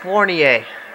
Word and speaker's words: Fournier: Fournier, that's how you pronounce it.